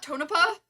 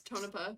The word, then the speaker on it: Tonopah: mine and Tonopah Nevada how did you pronounce that Tonopah not Tonopah okay gotta really add that oomph to the end of it got it come on um everyone actually it's Tonopah but it's fine if every